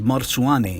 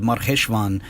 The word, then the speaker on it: Marcheshvan: When Josephus says Marsuane, he's referring to the same month, which is called Marcheshvan in modern Israeli Hebrew. The somewhat different pronunciations represent different vocalizations of the same consonantal structure.